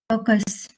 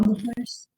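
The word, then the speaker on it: BUKRS: Bookers. Correct. So this is pronounced as bookers. Now bookers. Yeah, bookers. B U K R S.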